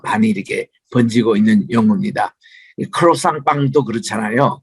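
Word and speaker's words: croissant: 크로상 빵도 그렇잖아요. 그 자체가 크로상트라는 영어인데 그거를 크로상이라고 발음합니다.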